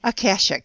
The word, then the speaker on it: Akashic: Aashic.